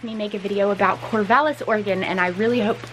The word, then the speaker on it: Corvallis: go to corvallis i made it to corvallis which is the proper pronunciation i looked it up and it is